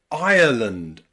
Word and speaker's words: Ireland: Okay, but there is another way to pronounce the I and the R together in English, and that is in words like Ireland. Ireland. Ire.